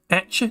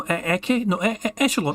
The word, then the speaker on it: echelon: Just today's word of the day, echelon, and Phil's like, how do you say that? Etche? No, echelon.